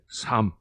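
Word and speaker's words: psalm: 부살름이라고 하는 말이 부살모의에서 영어로이 부살모의를 표현할 때 부살름이라고 했는데 영어에서는이 피가 앞에 나오이 피가 자음하고 연결이 되면은 피가 묵음이에요. 소리를 내지 않아요.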